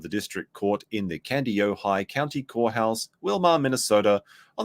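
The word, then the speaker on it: Kandiyohi: but someone said like just imagine it's high as in you'd have to be high to believe anything Rada says and you'll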